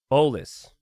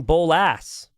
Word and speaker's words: Bolus: How to pronounce Bolus. Bolus. Yeah, and I was saying Bolas.